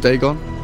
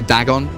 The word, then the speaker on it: Dagon: They need to do it for Dagon as well, because there's no like accepted pronunciation of Dagon. Some people say Dagon, some people say Dagon.